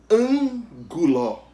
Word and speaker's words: ângulo: Ângulo. É a antepenúltima sílaba. Então, se a antepenúltima sílaba é a sílaba tônica, a palavra ângulo é proparoxítona.